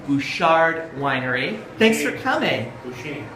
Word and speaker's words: Bouchaine: Bouchaine. Bouchaine, thank you. What did I say? Bouchard, my fault.